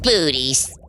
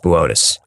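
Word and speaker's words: Boötes: uncomfortable Arcturus is in the constellation of botus booties botus it says booties on the tel it's pronounced botus whatever the Black Knight satellite is H supposed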